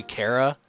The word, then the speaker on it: Chara: Chara and I know it's actually Cara like character but I pronounce it Chara yeah I know it's supposed to be Cara when I saw you